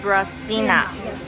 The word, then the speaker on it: Debreczyńska: it four barbecue sa yes I know de deas cinaa deas cinaa sausages yeah they're not kabasa out